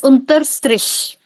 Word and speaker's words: Unterstrich: It's Unter Strish. Unter Strish. Okay, ma'am. Thank you. Split up, unter, Unterstrich. strish.